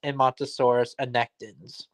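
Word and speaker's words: Edmontosaurus annectens: Yeah, it's pronounced Emmontosaurus annectens.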